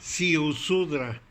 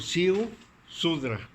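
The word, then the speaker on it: Ziusudra: Con Z, Siusudra. Z-I-U, Siu, Sudra. Siusudra, con las dos con Z. No, la primera, Siusudra.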